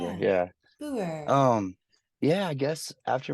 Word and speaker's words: Booher: Booher. It's Yeah, yeah. rolls Perfect. Yeah. off the tongue. I love it. Oh, that's good. Yeah. The H is silent or whatever. Yeah. Yeah. Booher.